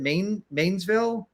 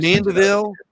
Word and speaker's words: Mandeville: Now, is it Mainsville? How do you pronounce the let's we have Mandeville. Oh, you're talking about Mandeville.